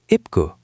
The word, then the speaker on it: 입구: ip, n is silent, e is e, b is p, ip, and gu is gu, ipgu.